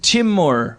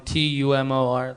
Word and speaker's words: Timur: Some people get it so wrong. Tumor, like. Two more? People call you? Someone spelled my name like Timeur. Like, come on. Timur. Yeah. Come on, pronounce it.